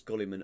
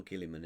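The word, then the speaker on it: Guilliman: wrong one uh it's kiliman isn't it even though it's got a unit I don't pronounced it yeah yeah they should just take the U out of it annoys me anyway uh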